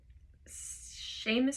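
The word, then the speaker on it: Seamus: poets seems sheamus s-e-a-m-u-s has a couple different pronunciations sheamus i'm going to say sheamus heaney h-e-a-n-e-y once described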